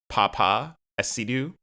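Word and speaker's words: Paapa Essiedu: Papa Esidu, I believe is how you pronounce his name, as Snape.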